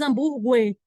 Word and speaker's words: hambúrguer: Porque a gente não pronuncia, a gente não diz hambúrguer, não é? Gue. Vou comer um hambúrguer. Vou comer um hambúrguer. Gue. Se eu tirar o U, tanto é que se eu tiro o U, eu pronuncio do mesmo jeito.